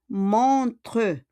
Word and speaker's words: montres: Tu montres. Mais OS siya, mais on prononce pas le S.